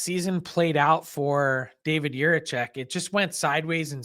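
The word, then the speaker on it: Jiříček: I think an interesting thing about Fabro going to Columbus, Frank, is David Juracek.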